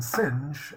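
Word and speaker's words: Synge: the victorian era then we have john millington singe uh it's uh it's spelled singed but it's pronounced sing actually he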